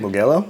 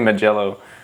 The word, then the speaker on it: Mugello: We are in Italy at Melo, I think is how they say it. Mugello. Melo. I don't know. I'm not Italian. It's definitely Magello. Uh but we're going to